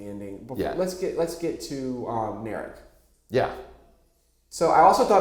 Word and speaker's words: Narek: I mean, Narek rhymes with Garrick.